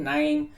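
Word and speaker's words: KNIME: So pronounced with a K, but K is silent. Nime, Then there is data IKU and data robot.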